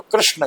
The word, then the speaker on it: कृष्ण: तो मतलब जिस जिसमें आकर्षण है उसको कृष्ण कहते हैं। तो अब अगर हम किसी स्त्री को कहेंगे तो कृष्णा कहेंगे। पुरुष को कहेंगे तो कृष्ण कहेंगे। तो ये ग्रामेटिकल बात है। और कई बार स्पोकन उच्चारण की भूल में ऐसा प्रतीत होता है। अगर हम व्याकरण की दृष्टि से शुद्ध बोले तो कृष्ण बोलना चाहिए।